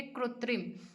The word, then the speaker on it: कृत्रिम: ये संस्कृत का शब्द लिया गया है, इसलिए इसको आप हूबहू याद रखेंगे, कृत्रिम। संस्कृत का शब्द है, इसलिए इंग्लिश में भी इसका प्रोनाउंसिएशन यही हो गया, कृत्रिम।